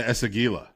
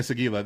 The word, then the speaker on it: Esagila: The first and most important of which is the renovation of the Esagila, which I pronounced correctly this time. You guys heard our pre-show. I'm an old man. So the renovation of the Esagila.